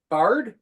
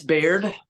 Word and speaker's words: Baird: the band spoken Bard yeah how do you say it I've heard all um I've heard every pronunce it's beard beard ah and Jeremy told